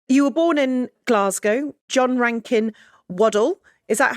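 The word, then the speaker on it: John Rankin Waddell: You were born in Glasgow, John Rankin Waddle. Is that how you pronounce it?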